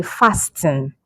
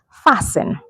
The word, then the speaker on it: fasten: Fasten up your seatbelt. So we don't say fasten. The letter T here is silent. So we say fasten.